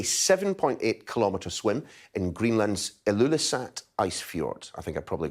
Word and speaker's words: Ilulissat: Uh thank you so much and you did get the pronunciation right. It's called the Ilulissat Icefjord.